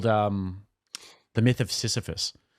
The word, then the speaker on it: Sisyphus: Sisyphus. Sisyphus?